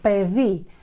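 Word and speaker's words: παιδί: Альфа-йота, альфа-йота Э передает нам. Пэ-ви. Пэ-ви — это ребенок. Пэ-ви, пэ-ви. Именно альфа-йота там пишется.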